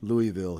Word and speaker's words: Louisville: lot of people in Louisville that are uh we we don't say Louisville here we say Louisville it's like a like like the eye is silent yeah there is no Louie it's Lou okay so maybe it's